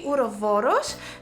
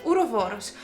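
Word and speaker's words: ouroboros: greek i would say urovoros because it's actually a greek word ura means that they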